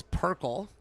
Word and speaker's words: Perkle: Tony's last name is Perkle. The R doesn't come first.